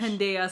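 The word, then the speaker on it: pendeja: Pendea. Sorry, J. Yeah, the J is like a Y.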